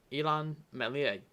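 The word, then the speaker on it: Illan Meslier: fair in saying um elon mellier that's how you say his name he is probably one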